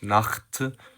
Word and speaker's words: Nacht: But in some other cases, like for example for the word Nacht, which means night, the sound CH is ch.